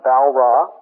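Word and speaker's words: Walras: Val ra w a l r a s pronounced Val ra and an Austrian Economist named manger me G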